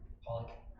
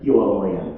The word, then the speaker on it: Pollan: Say it again. Pollock. Spell it usefully. P-O-L-L-A-C-K. No, neither. So no answers. Michael Pollan, P-O-L-L-A-N, Pollan, there's no K in there.